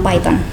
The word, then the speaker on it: Python: Bacanya Python atau Python? Di sana bacanya Python, Pak.